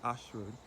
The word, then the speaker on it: Ayshford: As I said before, this Ashford is spelled A Y S H F F O R D.